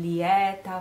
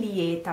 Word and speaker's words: lieta: Eccomi in lieta vesta. But careful, we stop here, because lieta should be pronounced lieta. Diction would tell us to say lieta with this open A.